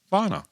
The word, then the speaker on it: Ivan: spelled, it is definitely Ivan. He goes over in Russia, they say Ivan, and his nickname over there, which he prefers to be called, is Vana.